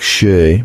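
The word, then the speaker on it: 四: The number four is pronounced like shir, meaning death, and the number nine is pronounced like kurushimi, meaning suffering.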